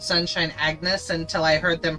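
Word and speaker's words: Agnès: I always called Sunshine Agnes until I heard them pronounce her name apparently it's French I never knew I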